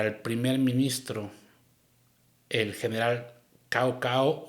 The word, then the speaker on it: Cao Cao: primer ministro, el general Cao Cao o el general Sao Sao, porque en chino se pronuncia Sao Sao, se escribe cao en español.